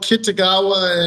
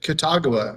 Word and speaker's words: Kitagawa: to say like, well, Kitagawa and Kitagua are exactly spelled the same, but once how you say it in Persona 5 and once how you say it in uh My Dress Up Darling.